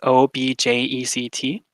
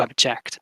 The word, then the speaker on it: object: or the second syllable so if it's on the first syllable as an object object then it means the noun an object i have an object while if you put it on the second syllable it becomes a verb object to object i